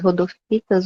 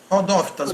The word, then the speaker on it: rodófitas: Eu vou apresentar sobre as rodofitas ou rodofitas, vou falar rodofitas. Eles falam rodófitas, mas rodofita não tem problema também, não. Tem dois jeitos de pronunciar mesmo.